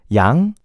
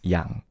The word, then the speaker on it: Yang: Yang is easy. Just don't say Yang. As long as you don't say... You know, another thing that I get annoyed, that's the same pronunciation as... You know the term yin and yang that people say? It's yang. At least in Korean, the way to pronounce it is yang.